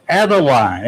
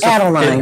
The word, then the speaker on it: Adeline: mispronounce this name because in English, there are 3 acceptable pronunciations of Adeline. I was going to say, everybody be pronouncing it wrong. There's Adeline, there's Adeline, and Adeline. All 3 are accepted pronunciations.